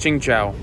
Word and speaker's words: Tsingtao: It's called, I think it's pronounced Qingchao, but it's spelled Tsingtao, and it's $8.50 for a 300 ml bottle, which is a pretty fair price actually.